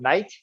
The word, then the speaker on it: knight: like like we today we write the word knight for a guy in the shining armor and we write with silent k and we just do